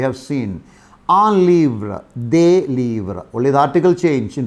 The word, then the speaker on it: livres: We have seen un livre, des livres. Only the article change in pronunciation. Un livre, des livres. Though when we write, you write L-I-V-R-E-S, but the pronunciation will be livre.